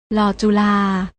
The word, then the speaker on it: ฬ: นี้ ค่ะ รอ เรือ ส่วน พยัญชนะ ตัว ที่ 2 และ 3 อ่าน ออก เสียง โดย ไม่ ต้อง กระดก ลิ้น อ่าน ว่า ล ลิง กับ ล จุฬา น้อง ๆ อ่าน ออก